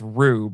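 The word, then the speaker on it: R/B: It's not RB, it's Rube. Apparently, that's how you're supposed to pronounce it.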